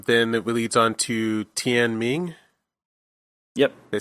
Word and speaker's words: Tian Ming: Then it leads on to Tian Ming.